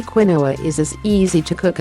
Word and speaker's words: quinoa: Quinoa, pronounced quinoa, is a nutritional all-star that belongs in your weight loss plan.